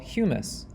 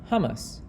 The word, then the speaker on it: humus: water, and microscopic organisms into what's called humus, pronounced HUMUS, not to be confused with the food hummus.